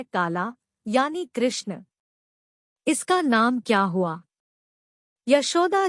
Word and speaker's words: कृष्ण: पर ये नाम ठीक है किसन, यशोदा जी बोली। फिर हंसे गर्ग जी बोले, किसन नहीं, कृष्ण।